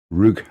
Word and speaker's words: Ruch: Ruch. Yeah, it's Ru, and then the last bit is like what you pronounce lot. So it's Ruch, as in Veruca.